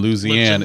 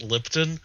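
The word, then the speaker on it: Lipton: making sweet tea and lisian is it that's no you're saying it wrong it's lipon no I'm sorry and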